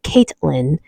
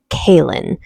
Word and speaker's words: Kalyn: I kept calling Kalyn Caitlin, but her name is Kalyn.